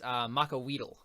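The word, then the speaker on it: macuahuitl: to pull out my Makahito, or however that's pronounced. So I figured out how it's pronounced. It's pronounced Makaweedle.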